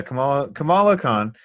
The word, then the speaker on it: Kamala Khan: And Kamala Khan? Yeah. Mm-hmm. I believe that's how you pronounce it. Please don't let me be wrong. There we go. Okay, that is exactly Kamala Khan.